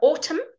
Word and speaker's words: autumn: at the end of a word you don't pronounce be in okay so autumn good repeat after me ha ha ha open